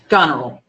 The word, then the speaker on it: Goneril: Goneril? Goneril. Goneril.